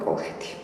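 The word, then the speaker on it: კოლხეთი: But in Georgian, we pronounce as Kh, Kolkha, or Kolkheti.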